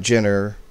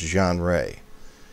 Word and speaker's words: genre: this now the genre it's not gender it's pronounced john ray and when we go